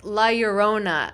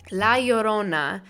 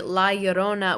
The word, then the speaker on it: La Llorona: and different like like lyurona yeah oh my god i say that wrong no that's not it that's how it's spelled oh my god i can't speak la llorona so a lot of people see la yorona which they made a